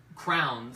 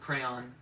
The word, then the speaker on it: crayon: and I used to say crowns Crowns, when I was a kid. which is not right. I think I've decided I'm cool with crayon.